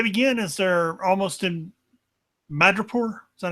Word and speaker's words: Madripoor: Well, they begin as they're almost in Madripoor. Is that how you pronounce it? Yes. Madripoor.